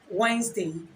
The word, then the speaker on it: Wednesday: day or simply say wordness d the standard pronunciation for the word Wednesday is Wednesday and not white next day so the best